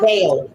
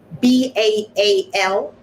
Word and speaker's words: Baal: And Baal, can you spell that, Baal? Baal, B-A-A-L, Baal.